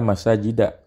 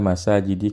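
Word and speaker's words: مساجد: Isi sebuah makanya dia dibacanya Ila masajida bukan Ila masa jadi kasirotin tapi Ila masajida kasirotin Kenapa kok na'atnya kasirotin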